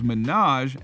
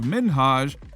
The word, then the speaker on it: Minhaj: the problem was that ellen kept saying his name is minaj instead of minhaj not cool things got